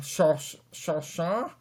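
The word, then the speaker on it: Solskjær: Yes, I've been trying to pronounce his name, but Ole Gunnar Solskjaer is. I'm sorry, this is Solskjaer.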